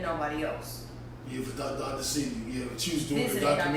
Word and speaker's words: Sebi: Sebi, pronounce the E.